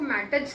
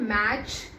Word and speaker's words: match: मैच, MATCH, इसमें T है, इसका मतलब इसको मैटच नहीं बोलेंगे, इसको हम मैच ही बोलते हैं। इसमें जो T है ना वो छुपा हुआ होता है, जिसको हम इंग्लिश में साइलेंट बोलते हैं, इसको हमें बोलना नहीं होता, ये अपने आप हल्की